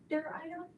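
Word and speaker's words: Zwitterion: But it's called a Zwitter-ion. You can look online to see how it's said correctly. But it is a ZW, Zwitter-ion, to include the isoelectric point.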